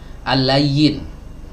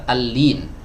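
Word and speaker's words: اللين: Ya, sebagian dari kita kadang ada yang membacanya al-layyin. Nah, ini kurang tepat ya. Yang benar al-lin, lamnya di kasroh, bukan di fathah.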